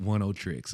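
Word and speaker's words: Oneohtrix: Pronounce Oniotrix. I knew it. Oniotrix.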